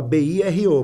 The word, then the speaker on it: bureau: E aí a gente decidiu mudar para MBM Escritório de Ideias, e não Bureau de Comunicação, porque Bureau se fala B-I-R-O, mas se escreve B-U-R-E-A-U, Bureal.